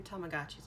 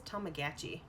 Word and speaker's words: Tamagotchi: so they have new tamagotchis out right the commercial the kid says tamagatchi right it doesn't have he pronounced it weird and it's like no it's tamagotchi yeah jeez people tamagotchi